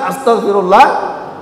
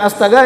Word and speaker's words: astaghfirullah: Jadi yang benar astagfirullah, ha, astagfirullahal azim. Jangan astaga ya, astaga naga, tidak ada artinya itu.